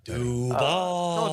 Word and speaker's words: Duval: Duval. Don't roll it.